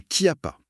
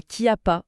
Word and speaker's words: Chiappa: Ça s'écrit avec un C et un H. Mais la prononciation locale exige vraiment un cas. Donc on dit bien la qui a pas. C'est ça. La Kia pasa, c'est toujours bien de